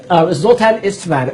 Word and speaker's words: Zoltan Istvan: So we are actually talking right now over Skype with the Transhumanist Party presidential candidate, Zoltan Istvan. I am pronouncing your last name correctly, correct?